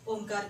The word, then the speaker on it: ओम: ओम यानी 70% उसका उच्चार चाहिए और म का उच्चार जो है सिर्फ 25% होना चाहिए। ओम अभी हम प्रार्थना मंत्र करेंगे।